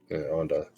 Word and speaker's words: Onda: her as well her name is was it pronounced Anda Anda yep Anda o n da so and I initially